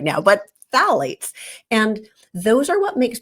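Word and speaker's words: phthalates: in Plastics is called phalates which is spelled with a silent P so don't ask me to spell it right now but Fates and those are what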